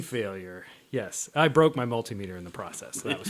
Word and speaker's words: multimeter: multimeter like called it mutinter or something like that. I believe it's multimeter. Multimeter. Yeah, like an altimeter.